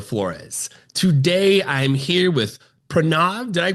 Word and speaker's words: Pranav: Today I'm here with Prrenav. Did I pronounce that correctly again?